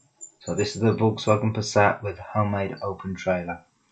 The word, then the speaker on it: Passat: So this is the Volkswagen Passat with homemade open trailer.